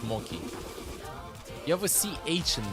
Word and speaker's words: mochi: Mochi. No, it's Moki. You have a CH in there. I pronounce it Romanian.